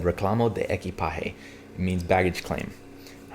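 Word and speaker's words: reclamo de equipaje: i remember going what ali how do you pronounce that he goes i was like the what and he said reclamo de eki pahe it means baggage claim i was like oh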